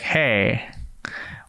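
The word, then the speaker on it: Hej: h-e-j and it me i didn't realize that you pronounced like like hey which makes total sense and i and i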